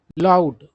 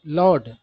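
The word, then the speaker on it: laud: मतलब की तरीके अपनाए जाते हैं आगे है लाउड सॉरी लड लाउड नहीं है लाउड का स्पेलिंग क्या होता है तो एल ओ यू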